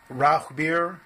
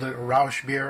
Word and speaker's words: Rauchbier: I heard about something called Roth beer or as the guy at Benny's called Roush beer I think his pronunciation is incorrect Ralph means smoke as